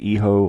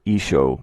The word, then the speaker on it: hijo: of Spain someone's from, it's pronounced Hijo or Isho, meaning son.